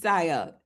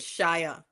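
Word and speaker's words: Xia: Her name is Sia. X I A. No, but Shia Shia, that's how she pronounced it. Shia, but it's X I A.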